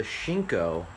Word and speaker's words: Shinko: Okay, this is the Shinko. I pronounced it wrong last time.